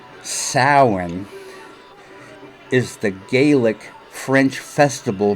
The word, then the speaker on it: Samhain: Gila monster in Danzig likes old movies Samhain pronounced Souren is the Gaelic french festival marking the end